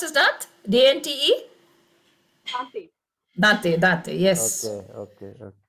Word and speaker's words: Dante: that is pronounced as that? Dante? Dante.